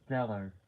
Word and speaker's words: Gellar: But I believe it is Gellar. Like Stellar, but it's with a G instead of the C.